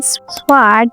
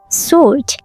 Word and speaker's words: sword: The W is completely silent, so don't say sword or sword. Just say sword.